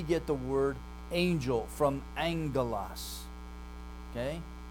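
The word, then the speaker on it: ἄγγελος: So we get the word angel from angelos, okay? That first gamma becomes a nasal in pronunciation, ng. So it's like our English word sing, ring, that ng sound, that's what happens to it.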